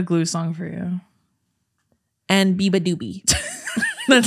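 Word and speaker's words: Beabadoobee: Look, that's literally Biba Doobie. The fact that it's spelled phonetically how it sounds is crazy.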